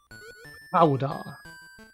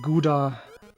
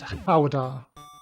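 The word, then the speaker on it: Gouda: dirty Americans say GDA this is an educational stream you dirty Americans please pronounce it howder back of your throat whoops that almost went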